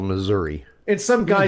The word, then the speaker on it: Missouri: But TV news people seem to think they're supposed to say Missouri. At least, it ends with an I. An I doesn't have an A sound. It's pronounced exactly like it's spelled Missouri.